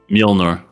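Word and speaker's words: Mjölnir: War d catws o cannot pronounce that Milner that's how you say it for real uhhuh mner that's the name of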